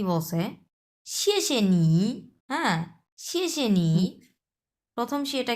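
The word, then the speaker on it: 谢谢你: কত number ton বলেন শেষে নিড হ্যাঁ থার্ড সো শেষে নিটা মাস্ট বি আপনি একটা ভি শেপ উঠাবেন আপনার ইয়েতে ফুল একটা আপনার উচ্চারণে ফুল ভি শেপ উঠাবেন হ্যা সো শেষেনি শুনতে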